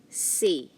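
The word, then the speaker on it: c'est: this is another version so you have here say now this one c it's pronounced as see not chess but c and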